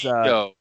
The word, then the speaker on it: guajillo: Double L is Guajillo.